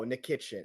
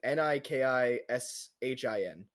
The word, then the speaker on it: Nikishin: No, Nikitschkin, Nikishin.